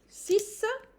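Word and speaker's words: six: It will be 6. I'm not pronouncing the X again.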